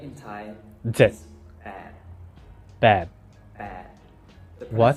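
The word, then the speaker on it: แปด: is bad. bad Bad. The What?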